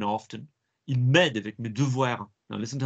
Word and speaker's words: devoir: The letter E in French is E. You put a D in front of it. Devoir. So if you're hearing it being pronounced like devoir or something like that, well, that's not good.